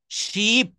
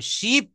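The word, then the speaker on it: sheep: আবার এস এইচ ডবলই পি এই শিপ এটা উচ্চারণ একটু দীর্ঘ যেহেতু এখানে ডাবল ই রয়েছে এজন্য এখানে বলতে হবে শিপ তালব বসয় দীর্ঘ পশি শিপ একটু দীর্ঘ সময় ধরে বলতে হবে শিপ শিপ মানে হচ্ছে ভেড়া।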